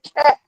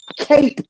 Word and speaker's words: cape: I didn't say cap. Cape with the E. Pronounced with the long A.